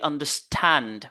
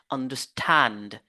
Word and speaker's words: understand: contrairement au nom composés les verbes composés on se focalise sur le deè élément le deuxè élément understand regardez understand vous voyez il y a l'accent secondaire là où on ne va pas s'attarder trop mais on s'attarde sur l'accent primaire understand understand ici aussi